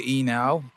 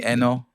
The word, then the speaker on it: Enow: Yeah, Americans would say Enow, and back home they would be like Stanley Enow, you know. No, and Enow. Yeah, and then some others are gonna be like Stanley Enow.